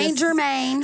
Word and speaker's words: St. Germain: Uh uh is Germain, you don't pronounce the T. So, it's just St. Germain.